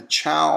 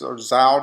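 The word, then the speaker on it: Zhou: Then you have the Chao, or it's pronounced Zhao Dynasty.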